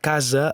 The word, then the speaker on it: casa: Al mot casa, la primera A és tònica, a. La A final és en posició àtona, e.